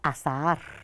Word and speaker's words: azahar: olvida que al ensayar insistía en que debía pronunciar claramente la palabra azahar separando las dos consecutivas ahora comprendo que era